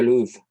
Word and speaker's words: Louvre: This papyrus is torn in two, part of it being in the British Museum, the rest in the Louvre. I don't think you pronounce the R-E.